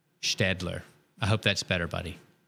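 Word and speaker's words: Staedtler: Buddy's helping us with the pronunciation of Städtler. So it's more like feather or gather or bear. Städtler.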